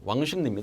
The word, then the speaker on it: 왕십리: 정말 딱 가능하죠 자 밑에는 왕십리 발음 해보십시오 왕십리 다 져 친구의 바람은 요 왕 심 닉 그래서 w 우선 woo